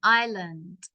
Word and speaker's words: island: it's an Island Ireland remember the S is silent Island Greenland is the largest